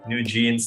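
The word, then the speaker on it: NewJeans: IVE, New Jeans, literally like a new pair of jeans, that's how it's spelled.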